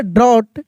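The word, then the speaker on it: drought: अ बिग डी आर ओ यू जी एस टी ड्रॉट ड्रॉट क्या पढ़ेंगे? ड्रॉट जी H silent रहता है।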